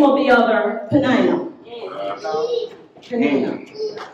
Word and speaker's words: Peninnah: The name of the other, Peninnah. Peninnah. How do you say it, Pastor? Peninnah. I'm Jamaican. I pronounce a hard I.